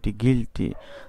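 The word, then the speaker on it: guilt: আগে যদি জি পড়ি তাহলে গি, তারপর এল, তারপর টি, গিল্ট তো দোষ।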